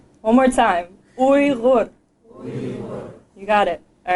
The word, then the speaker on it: Uyghur: words do you guys even know how to pronounce it we were so let's try it we're gonna say we look one more time we look you got it all right awesome so Weaver's